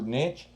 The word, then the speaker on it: niche: is, like you said, her niche or niche, depending on how you say it.